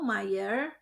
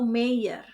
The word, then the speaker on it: Meier: Frau Meier pergi berbelanja. Ingat, kita sudah belajar Aussprache, kombinasi huruf EI dibaca I. Jadi Frau Meier, bukan Frau Meyer.